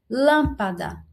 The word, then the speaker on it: lâmpada: Última, da. Penúltima, pá. E lã, a antepenúltima. Lã, a antepenúltima, certo? E essa lã aqui, ela tem que ser acentuada porque é a antepenúltima sílaba tônica.